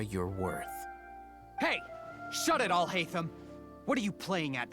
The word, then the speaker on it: Alhaitham: Shut it, Alhaitham!